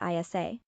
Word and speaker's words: Isa: Religion was very important to the couple, and they named their baby son Isa, pronounced Isa, which is the Arabic name for Jesus.